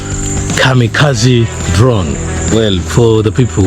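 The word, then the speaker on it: kamikaze: that I'm pronouncing wrongly they may think it's supposed to be pronounced chami chaji but it is Kami Kazi uh the best example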